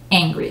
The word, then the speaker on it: angry: would say it so angry is always with the e sound angry like furious you're furious